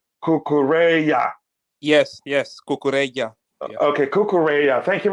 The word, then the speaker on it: Cucurella: small note to everyone kukuru last name is pronounced somewhat like kukureya yes yes okay thank